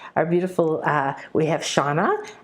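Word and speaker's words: Xana: beautiful uh we have Shauna x-a-n-a which is uh the X in Mayan is pronounced and she's it means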